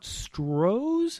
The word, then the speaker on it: Stroh's: How about Stroh's?